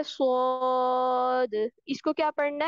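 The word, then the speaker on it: ص: से लगाकर मजबूती से मजबूती से एक तरह इस तरह लगाएंगे, और फिर क्या करेंगे, पीछे से जो हमारी जुबान है इसको ऊपर की तरफ तालू की तरफ बुलंद करेंगे, तो हमारे पास क्या प्रोनाउंस होगा, स्वाद।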